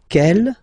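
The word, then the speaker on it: quelle: same way and then the feminine form is written like that q l l but it's pronounced like the masculine form Kell at the masculine k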